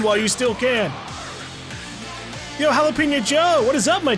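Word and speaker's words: jalapeño: knows where run while you still can yo jalapeno Joe what is up my chume long time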